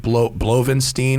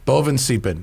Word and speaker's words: Bovensiepen: I think I'm going to mispronounce his last name. It's like Blovenstein or something like that. I'm going to fuck it. Bovin. Oh my God. Yes, Bovensiepen.